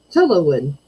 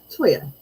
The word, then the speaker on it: cholla: Yeah, We call it up here in Minnesota cholla wood. right. Cholo wood. Yeah, it's cholla. Choya. Chola. Because two L's makes a Y. Yeah, What? yeah. It's Spanish.